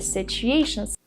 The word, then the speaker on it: situation: The word is not pronounced situation. We don't say situation, we say situ. The U is pronounced with a long oo sound. Oo. Together, situ. So the T makes a ch sound, like chicken.